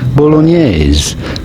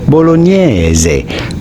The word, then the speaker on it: bolognese: Of course, in English or American, you normally say it bolognese. Bolognese, like spaghetti bolognese. But the typical Italian pronunciation is quite different. In fact, in Italian they say bolognese.